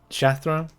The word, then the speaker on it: Shathra: um I I don't know yeah it's it's shathra funny with pronunciations but uh yeah she won uh she